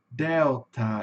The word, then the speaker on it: Delta: Como eu falei para vocês, no inglês, a sílaba tônica, na maioria das palavras, está no começo. Então vai ficar delta, delta, né? Vai ter um, vai ter uma subida e uma caída pro final, né?